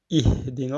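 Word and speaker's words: اهدنا: Donc, souvent, on lit très mal, on dit ihdina. C'est pas un E, mais c'est un I. Ihdina as-siratal mustaqim.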